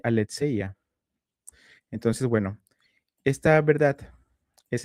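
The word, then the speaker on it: ἀλήθεια: Si tú escucharas una persona que habla griego, escucharías este aletseya.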